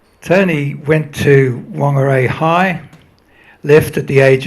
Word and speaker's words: Whangarei: He insisted on calling Whangarei Whangarei because he liked calling it the Maori way.